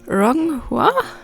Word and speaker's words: Ronghua: Today I'm going to try to make velvet flowers, or don't judge me for the pronunciation, Ronghua.